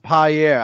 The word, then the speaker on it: Pierre: year no no no it's pronounced pi air I will now appear